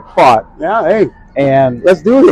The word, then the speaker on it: Pfaadt: the Texas Rangers against Brandon Pfaadt, is the way that he pronounces that. Pfaadt. Almost like Pfaadt.